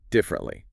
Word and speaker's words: differently: Differently. But in natural spoken English, we usually squeeze it into three. It sounds more like differently.